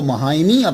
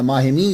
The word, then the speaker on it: माहिमी: दिया गया तो आपको महामी के नाम के साथ इसलिए लगता है या माहिमी या महामी ये दोनों बोले जाते हैं माह लिखा भी